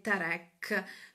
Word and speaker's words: Tarek: Diciamo che lo chiamano tutti Tarek, però il suo nome, dal momento che è di origine israeliana per la mamma, la pronuncia corretta è Tarek.